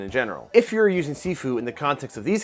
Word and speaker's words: sifu: SIFU is the Cantonese spelling and pronunciation, while you might hear it pronounced and spelled Shifu, which is Mandarin.